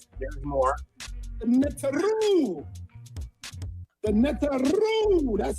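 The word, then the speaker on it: Neteru: The Netaru. That's how you say it. I can't do that. Can you do that, Amun? Netaru.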